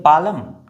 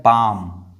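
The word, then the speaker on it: palm: ये है पालम। नहीं ये है पाम।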